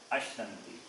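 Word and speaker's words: अश्नन्ति: So Ash, Nan, T. Ashnanti. This is how you have to read.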